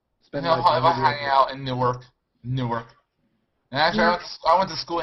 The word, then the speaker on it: Newark: hang out in newk Newark actually I went to school in Newark Delaware spelled like Newark but Newark new ark Del don't know how